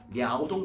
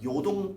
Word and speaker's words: 랴오동: 그 영토가 바로 랴오동 반도가 되겠습니다. 중국식 발음으로 요동 반도가 되겠습니다.